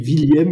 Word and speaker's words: Willieme: Donc, moi, je le prononce William. Effectivement, dans le Nord, on dit plutôt William, mais mon nom est plutôt d'origine de l'Est, donc on dit William.